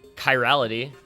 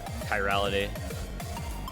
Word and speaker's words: chirality: I I think we we came up with it being like a hard k sound um we did some